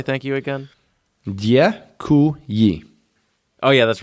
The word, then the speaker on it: děkuji: Děkuji. Oh yeah, that's right. Děkuji.